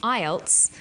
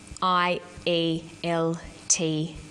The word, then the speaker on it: IELTS: is called an acronym with an acronym we don't pronounce the individual letters we pronounce it as a word so we say IELTS not I al t yes some other examples